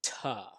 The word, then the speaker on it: to: also a little pronunciation the two is usually pronounced ta so i've got ta have ta need to and also if you